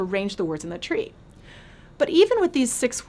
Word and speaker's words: trie: in this structure however Tree t-r-i-e in retrieval is pronounced the same way as t-r-e-e and it would be